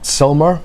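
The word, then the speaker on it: Sylmar: now cover the water in the reservoir in Selmar in California, is how you pronounce it, basically to protect against evaporation.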